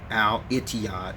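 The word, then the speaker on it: الاتحاد: right here each job is actually pronounced Al Ittihad in the Arabic language that's what it is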